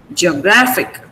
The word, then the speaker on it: geographic: Okay, but the stress remains on GR. Do you get that? Geographic, geographical, geographically. So you don't say geo, don't say geo, it's ge, that's it, ge.